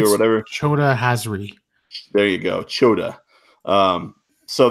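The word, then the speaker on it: Chota Hazri: Key charge, and then there's the character that I can never pronounce, Chetri or whatever. Choda Hazri.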